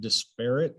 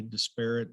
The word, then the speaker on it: disparate: Jan pronounce it disparate. And as you can see, both ways are proper. In Minnesota, they say disparate. In Indiana, we say disparate.